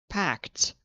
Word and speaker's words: packed: I know other languages you pronounce every single syllable as you see it, but in English we turn this into a t sound.